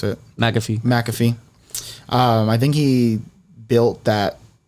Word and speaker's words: McAfee: How do you pronounce it? McAfee.